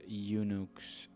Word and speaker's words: Unix: the group coined the name unix unics for uniplexed information and computing service pronounced eunuchs eunuchs as a pun on multics which stood for multiplexed